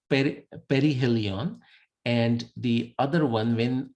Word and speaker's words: perihelion: point of perihelion now people will pronounce it in 10 different ways so you you get used to those but it's like perihelion and the other one